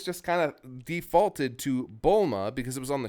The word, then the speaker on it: Bulma: of made sure that the dub was going to go with Bulma. Like immediately out the gate, put any other pronunciation down. And it's frustrating because I think Bluma just sounds better. I think it communicates the pun better, but nope, we got Bulma.